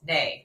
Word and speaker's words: Nay: Okay, so I listened to her podcast and I heard her actually say her name, and it's Nay. There's no D, it's just Nay.